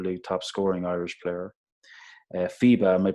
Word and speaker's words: FIBA: awards one Super League top scoring Irish player FIBA am i pronouncing that right yeah yeah yeah it's FIBA FIBA junior men's your highest score award FIBA